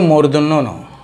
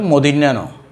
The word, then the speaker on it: মূর্ধন্য ন: তো শিক্ষার্থীরা উচ্চারণ করে মদিন্যা ন। তো মদিন্যা ন না যেন না বলি আমরা শিশুকাল থেকে যদি এইভাবে নিজেকে তৈরি করতে পারি, তাহলে বড় হয়ে আর ভুল হবে না। এটা মদিন্যা ন নয়, এটা হলো কি মূর্ধন্য ন।